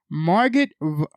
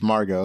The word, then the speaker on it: Margot: weasel and calendar man marget wobby no it's Margot oh Margot Robbie okay I think that's Robbie and Harley Quinn right the t is silent Stefan Blackheart as Brisco